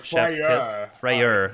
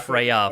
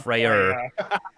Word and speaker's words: Freyr: wrong other than that freyer not Freya freyr yeah you need to you need to be uh careful how you pronounce them no it's anger